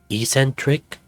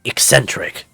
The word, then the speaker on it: eccentric: himself what was it that Dad called him Ecentric it's pronounced eccentric I see what was he doing before journalism